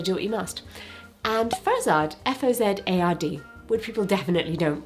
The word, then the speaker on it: Fozard: And Fozard, F-O-Z-A-R-D, which people definitely don't pronounce correctly ever.